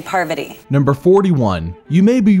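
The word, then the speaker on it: Parvati: many times good morning good morning poverty parvity so jeff got it wrong he was just saying it poverty party the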